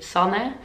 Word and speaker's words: Sanne: to pronounce my name so in touch they say sana and my last name